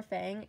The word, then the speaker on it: Fang: of fun fun or Fang you can pronounce it either way it's like the proper pronunciation is Fung because it's a Chinese name and she's modeled after